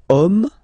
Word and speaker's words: homme: we've got the word homme, man, okay, but then it starts with H, as in French, H is not pronounced, so the first sound that we hear is O, okay, and then it will follow the same rule.